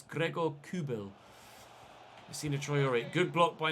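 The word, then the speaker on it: Gregor Kobel: topologies as well for pronouncing kubel's name incorrectly I've been calling him Greg or Kerbal and it's not it's Gregor kubil see Detroit good block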